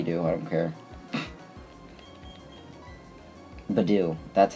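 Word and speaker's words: Budew: i'm calling him b do i don't care badou that's how it's said badou that's what i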